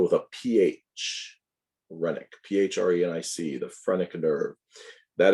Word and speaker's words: phrenic: see that coming up shortly the phrenic nerve spelled with a ph renick p-h-r-e-n-i-c the phrenic nerve that is what tells